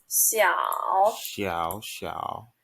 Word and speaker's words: 小: So the X pronounced as like C sound. C. Right. So C. 小小。